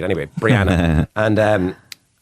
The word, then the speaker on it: Brianna: And um I always have to over pronunciate the B cuz otherwise people think it's Rihanna. She went nuts, right? Anyway, Brianna.